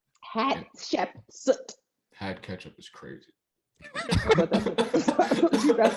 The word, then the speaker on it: Hatshepsut: Did you say hat ketchup? What did you just say? That's not at all what I said. What did you just say? I tried my best to pronounce whatever you said. Hatshepsut.